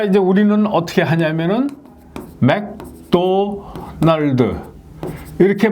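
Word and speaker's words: McDonald's: 우스갯 소리로 많이 얘기하죠 맥도널드 하면은 얘네들은 일본인들은 매그도나르도 이렇게 발음을 합니다 그 이제 우리는 어떻게 하냐면은 맥도날드 이렇게 발음을 니다 원어민들은 어떻게 발음하면 맥도널드 이렇게 발음을 합니다 맥도널드 자 받침 여기 일본인들은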